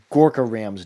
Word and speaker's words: Gorka Ram: Gorka isn't the correct way to pronounce it. He pronounces it. I'm gonna butcher this pronunciation, but I'm going to try to do it correctly. Gorkaram. You lean into the ka sound of his name, I believe.